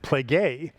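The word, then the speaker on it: πληγή: It's a p lambda ada uh gamma and and ada again it's and you pronounce it pleay and what it actually means is a stripe.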